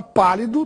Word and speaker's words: pálido: Isso ocorre porque a palavra pálido tem a sílaba mais forte na antepenúltima sílaba, pá.